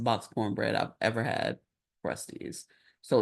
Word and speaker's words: Krusteaz: Just for the record, Krusty's. If you've ever seen it in the grocery store, it's spelled Krusteaz.